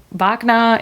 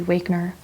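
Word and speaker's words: Wagner: And then another green is diamine wagna or yeah, vagna in German. Wner. I I feel like a lot of Americans say Wakner.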